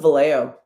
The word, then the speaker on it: Vallejo: Same with Valo. Anybody out here pronouncing the J and Valo? Stop. Nobody does that.